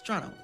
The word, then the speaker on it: Toronto: It's Toronto.